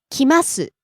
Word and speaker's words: 来ます: 帰ります帰ります Rising on the second syllable and falling on the last syllable.